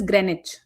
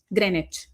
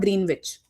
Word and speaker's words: Greenwich: And this is pronounced as Greenwich just for your info. Greenwich. Okay. Not green witch.